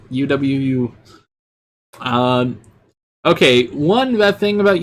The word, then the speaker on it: UwU: OW, or UWU. That's how you say it. UWU.